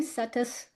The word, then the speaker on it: Setas: Settus pronounced like lettuce but it's sa seminary.